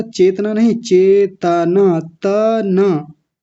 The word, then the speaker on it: चेतना: बोला था चेतना नहीं चेतना, तना, चेतना नहीं चेतना, तकार को पूरा रखेंगे यानी त को पूरा बोलेंगे।